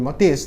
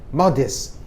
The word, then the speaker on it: modest: Jadi bacanya nggak boleh modest, tapi modest. Lain dengan tadi narrow. Nah, tekanannya pada suku kata kedua. Ini enggak, suku kata pertama.